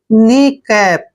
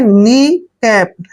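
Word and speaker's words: kneecap: ई सी ए प देखिए यहां पर भी के एन से पहले के है तो के यहां पर साइलेंट रहेगा यानी के का उच्चारण हम नहीं करेंगे तो एन को हमने न पढ़ना है और डबल ई को बड़ी ई की मात्रा पढ़ते हैं सी का उच्चारण हम यहां पर क करेंगे और ए को ए की मात्रा पढ़ते हैं और पी को प पढ़ना है नी कैप क्या पढ़ेंगे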